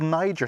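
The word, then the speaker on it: Nyjer: It's called Niger seed. That's spelled N-Y-J-E-R.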